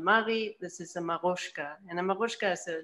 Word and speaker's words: Marutsca: Yeah, it's spelled Marutsca, but it's Marutsca, pronounced Marutsca, right?